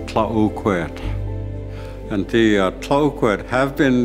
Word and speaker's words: Tla-o-qui-aht: This area that we are in is known as Tla-o-qui-aht Sound, but the proper pronunciation is Tla-o-qui-aht.